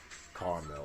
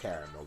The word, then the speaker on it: caramel: No, it has to be French vanilla, hazelnut, caramel, or caramel, depending on how you pronounce it.